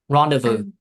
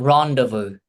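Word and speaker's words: rendezvous: No. No s there. No s there. Zoom. No s. Rendevu.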